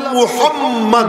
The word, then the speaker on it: মুহাম্মদ: আমি তার নামটা রেখে দিলাম মুহাম্মদ। বলেন না মুহাম্মদ। এমন নাম রেখে দিছি যে ওই নামটা যে উচ্চারণ করবে, উচ্চারণ করতে সময় দুইবার দুই ঠোঁট মিলে যায়, তো আমার নবীর তরে দুইটা চুমু রওনা হয়ে যায় মুহাম্মদ।